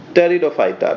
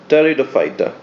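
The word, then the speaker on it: Pteridophyta: इसके फिर further 3 distinction है, थैलोफाइटा, ब्रायोफाइटा, टेरिडोफाइटा। टेरिडो में पी साइलेंट है। ठीक है, थैलोफाइटा, ब्रायोफाइटा, टेरिडोफाइटा।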